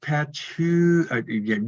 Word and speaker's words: Patchogue: Home Tonight is the band, and Hank Stone from East Patchogue.